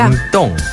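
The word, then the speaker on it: 明洞: 명동은 중국어로 밍동이라고 하죠. 밍동.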